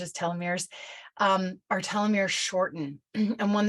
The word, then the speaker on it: telomeres: The way in which we pronounce telomeres varies. But the way I pronounce telomere is telomeres.